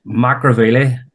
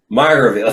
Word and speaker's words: Magheraveely: Is that how you pronounce it? It's Magheraveely. Magheraveely.